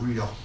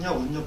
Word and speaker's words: 울력: 울력. 이것도 우리가 요거 쓰면 우리 운력이라고 쓰는데 요 운력이라고 쓰면 안 되고 울력이라고 그냥 울력이라고 써야 돼요. 우리말이 울력이라고 발음이 나잖아요.